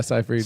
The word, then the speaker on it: Seyfried: Yeah, Seyfried.